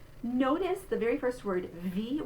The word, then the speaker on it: wie: Notice the very first word, wie. We're going to say that W spelling like a V sound.